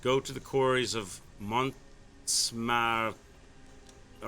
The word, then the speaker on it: Montmartre: Go to the quarries of Montmartre.